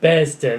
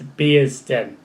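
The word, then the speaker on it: Bearsden: be as den now i think i called it bears dead or something like that and when i said that to jordan he was not happy with it so i had to get the pronunciation right we're going to be there all day until i got the pronunciation right luckily i did so it's beer's stem it's like beers den but we only got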